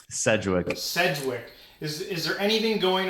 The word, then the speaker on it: Sedgwick: Sedgwick.